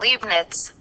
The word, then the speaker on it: Leibniz: video that's gonna play how you pronounce the second one's name you can pronounce it a little bit differently and so I'm just gonna let that play for you Gottfried Wilhelm Leibniz that's read Wilhelm Leibnitz Gottfried Wilhelm Leibniz so I go with the liveness pronunciation but if you want to go with the Leibnitz it's not really wrong it is a foreign name so whatever you pick is not really a big deal all right so Newton